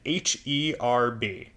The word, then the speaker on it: herb: Although, I will also point out, in some dialects, people pronounce the H on herb, even if they're talking about, like, parsley and stuff.